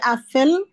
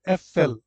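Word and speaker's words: Äpfel: তো আনসার কি দিবেন ডি আফেল আপেল উচ্চারণটা হবে এফএল এফএল যেহেতু লাউট আছে এফএল ডি এফএল কস্টেন কস্টেন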